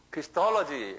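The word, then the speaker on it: Christology: 토로지 그래서 크리스톨로지 한번 발음해 보겠어. 크리스톨지요 액션트가 토에 있어요. 크리스톨로지.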